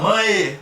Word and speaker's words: mãe: Então a letra termina com E, mas ela tem o fonema I ali.